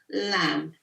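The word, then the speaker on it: लं: I pronounce it properly so the sound um is lag and if you're all you said you can say it with me so it's lamb lamb lamb lamb let's um go lamb and stand so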